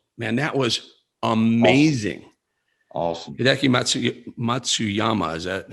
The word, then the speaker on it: Matsuyama: meantime the masters man that was amazing awesome matsuyama is that how to pronounce i believe that's how i pronounce that's